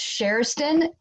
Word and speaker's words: Kjersten: you're pronouncing it as it's actually um pronounced shareston like shaylee oh cool thank you